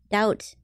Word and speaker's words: doubt: is like dead but in what languages is B just a common silent letter why isn't that just D out doubt what isn't that enough why is there a b in there I don't understand these